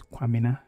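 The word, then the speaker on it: Kwamena: Sometimes you hear people pronounce it as Kwamina, like K-W-A-M-E-N-A, Kwamina, but it is the same thing, Kwabina or Kwamina.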